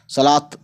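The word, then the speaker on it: صلوٰۃ: ते और है ही सलात, सलात ये ते की आवाज़ पैदा करता है। ठीक है ना, हे मत जोड़ना इसमें, है ना।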